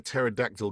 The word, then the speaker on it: pterodactyl: The one is, why can't you hear a pterodactyl going to the bathroom? I don't know why. Because the P is silent.